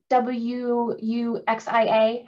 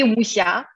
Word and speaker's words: wuxia: The W-U-X-I-A, how do you say that? That would be Wuxia.